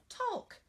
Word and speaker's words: talk: said its third sound what else do I need to do double underline the silent letter notice I'm saying silent